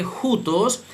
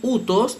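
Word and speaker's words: οὗτος: Se lee jutos, se lee jutos según la pronunciación erasmiana, pero utos según la pronunciación reocliniana.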